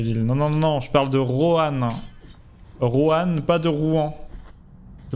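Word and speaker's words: Roanne: Non, pas Rouen, Rohan, R-O-A-2-N-E. Tu sais que tu parlais de Rouen, je me disais pourquoi étonné de le voir dans un classement sur les villes.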